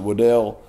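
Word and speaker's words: Waddle: freshman out of Texas Jalen Waddell some people pronounce it Weddell Jalen Waddell that's what I've been saying it but he is a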